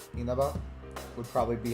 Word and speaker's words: Inaba: Like what, because you're mostly not supposed to stress any syllables in standard Japanese.